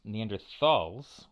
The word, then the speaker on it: Neanderthals: of of paleo hominins Neanderthals with a th there and it's really a